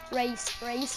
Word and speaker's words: Wraith: Likez à masse, Les gars, dans les commentaires, mettez hashtag race, c'est écrit comme ça, je vais vous mettre.